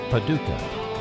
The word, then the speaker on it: Paducah: That's Post Office Box 766, Paducah. That's spelled P-A-D-U-C-A-H, Paducah, Kentucky 42002, USA.